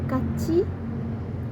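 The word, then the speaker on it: 같이: Contoh lainnya, misal pengucapan kachi yang artinya bersama, tiet pada kat itu akan berubah menjadi bunyi chit tak jika diikuti oleh i.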